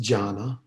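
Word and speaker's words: jhāna: means meditation and i'm giving the poly here jhana just so you can see you know some pali every now and then and you can see how jhana might be pronounced jhana and uh when it comes into chinese it's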